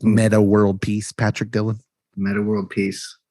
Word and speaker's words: Meta World Peace: But you don't pronounce the X's. It's just Meta World Peace.